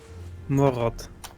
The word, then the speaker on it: Morot: Pronounce what now? Carrot. Morot. Morot. No. Like that. Morot.